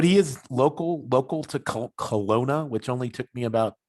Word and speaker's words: Kelowna: well now yeah yeah i always put a w in there but it's kelowna um silent w um